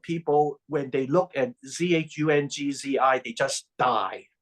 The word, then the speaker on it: Zhuangzi: Chinese words are monosyllabic, meaning there's only one syllable per Chinese character. So when I say Zhou Wang, I don't mean for you to split Zhou and Wang in two words, like Zhuang, Zhuang, Zhuang, Zhuangzhou, or Zhuangzi.